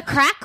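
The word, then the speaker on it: craic: It's spelled, what's the crack? C-R-A-I-C, isn't it? C-R-A-I-C, yeah. What's the crack?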